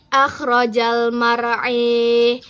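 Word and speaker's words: المرعى: Imalah pada lafaz akhrajal mara'. Maka setelah ada perubahan imalah, cara membacanya menjadi akhrojal mar'i.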